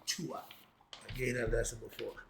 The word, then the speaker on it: Duat: You see that says the D, right? But they pronounce with a T. It's called the tuat.